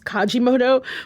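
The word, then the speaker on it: Kalimotxo: Kajimoto or Kalimoto. Listen, a very attractive person that works at the restaurant told me it was Kajimoto, but it's spelled like Kalimoto.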